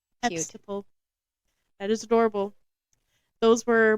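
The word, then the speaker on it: Epsicle: eple was born I love that name the eple I'll spell it for you I'm not saying it wrong e PS i c l e eple that is adorable those were my sips of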